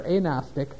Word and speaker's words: agnostic: just as agnostic or a Gnostic for the a in front of Gnostic which starts with a GU pronounced the hard G agnostic then that means